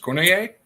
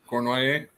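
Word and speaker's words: Cournoyer: Yeah, is that how is that pronounced? Cornier? Cornoyer. Yeah.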